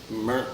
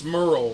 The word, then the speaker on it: Murrah: It's Murrell, right, Jamie, or Murrell? I think it's Murrah. Murrah. Murrah. Yeah, that sounds right.